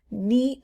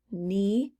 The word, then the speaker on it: knee: no t sound listen knee pad here's another one of our compound words knee knee there's no k knee so it goes with